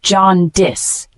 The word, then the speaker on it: jaundice: it is a noun pronounced as John dis it means a medical